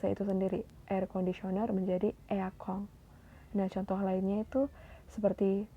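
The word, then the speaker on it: エアコン: Kagami lemari todana AC eakong nah AC juga ini berasal dari bahasa Inggris yaitu Air Conditioner yang disingkat menjadi eakong jadi ada juga beberapa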